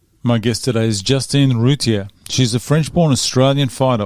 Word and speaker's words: Routier: Rutier.